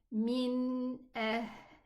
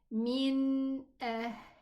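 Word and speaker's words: من: So I'm going to pronounce it min. Okay. Min. And as we mentioned maybe in the previous sura that the noon is one of the letters of in between lin. Okay. So this noon is this noon min and I need to give it some time to be pronounced. So I say min. Okay. I don't read it quickly and say okay.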